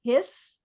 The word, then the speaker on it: his: We have a lot of words like there's a word his h i ss like a snake hisses and his. H i s is spelled h i s but it's pronounced h i z.